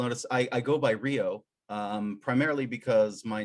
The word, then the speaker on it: Rio: i spell it r-i-o i used to spell it r-y-o um and people pronounce it ryo and uh so i